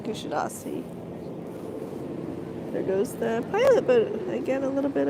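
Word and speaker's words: Kuşadası: they called it kusadasi so when I got here I was very anxious to hear how the locals pronounce it and indeed it's kadasi there goes the pilot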